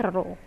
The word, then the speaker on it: rho: Nah, si P ini nih, P yang agak ngelengkung, bentuknya nggak P tegak gitu, jadi P-nya agak ngelengkung gitu, ini dibacanya rho.